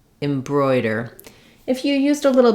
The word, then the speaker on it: embroider: at how to pronounce embroider embroidery and embroidered so these words are all stressed on the second syllable and the letters o I say oi like in boy that means that the first